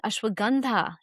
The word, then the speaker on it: ashwagandha: Utilizing ashwagandha in the evening. Ashwagandha is how we pronounce it here in the West.